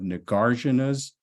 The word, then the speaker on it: Nagarjuna: this book, and also a closer examination of Nagarjuna's or Nagarjuna, depends on which pronunciation you prefer, and his works that focus specifically on our understanding of this core principle in Buddhism called emptiness.